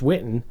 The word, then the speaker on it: Whitten: It's Whitten. And I have to spell it out because of that silent H.